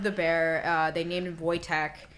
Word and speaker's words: Wojtek: the they love the bear uh they named voytech it's spelled w j TK voytech and he he ate cigarettes